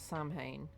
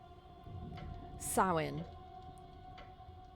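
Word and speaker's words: Samhain: And so these people have been gathered here at Oh, someone I read somewhere how to pronounce that. It's not Sam Hayne sin.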